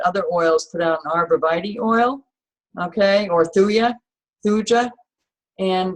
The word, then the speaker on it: arborvitae: Arborvitae? Arborvitae.